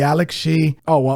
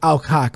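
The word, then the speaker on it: Millie Alcock: Supergirl, the new one's going to be played by Millie Alec, and if you are not familiar with Millie Alec, not Alec, Alcock rather.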